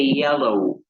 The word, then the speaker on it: yellow: El color amarillo no es yellow o yellow, es yellow, yellow. No es tan marcada esta Y en el nombre, por lo tanto no se pronuncia así, se dice yellow.